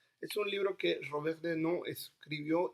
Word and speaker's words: Desnos: Vamos después de esto a hablar sobre un libro que yo amo, de Robert Desnos, o Desnos, como ustedes consideren que se debe pronunciar, si en español o en francés, y se llama A